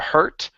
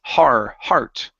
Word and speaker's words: heart: Okay, give me an R sound here. Instead of hurt, it's heart.